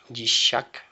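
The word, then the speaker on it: ישחק: Normalmente es Yitzhak, con Ayin, la segunda letra, pero aquí se pone con Shin, Yishak. Es un poquito diferente el nombre, y el cambio de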